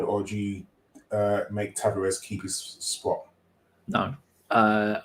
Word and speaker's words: Tavares: but having i thought tavares or tuvage i think is how you say it because uh tom keeps